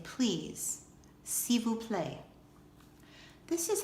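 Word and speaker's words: s'il vous plaît: is French this is how you say please see we'll play this is how you say good night bon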